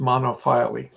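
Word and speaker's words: monophyly: think most most um these days it's called it's pronounced monofili um yeah i i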